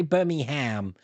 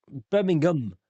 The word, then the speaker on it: Birmingham: You say Birmingham, Buckingham. We never pronounce ham. It's Birmingham.